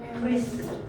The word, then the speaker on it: QRIS: Ada yang bilang QRIS, ada yang QRIS, ada yang Yang benar apa? yang benar QRIS. Kita bacanya QRIS. Bacanya QRIS gitu ya.